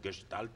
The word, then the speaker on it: Gestalt: corriente al congregue que se escribe gestalt pero como es alemana se debe decir que si tal o que es tal como dicen ellos es una es una